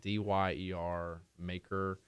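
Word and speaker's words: D'yer Mak'er: One of them, it's like DYER Maker. Apparently, it's like the British pronunciation of Jamaica.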